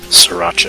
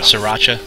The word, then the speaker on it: Sriracha: Sacheria or how do they pronounce that? Sriracha. Sriracha.